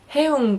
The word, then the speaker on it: 흥: This word, pronounced as "Heung", is actually a word that means being in a high mood, fun and excitement.